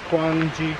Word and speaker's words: Kwanghi: times you know yeah once you kind of get the quan g kind of thing yeah you put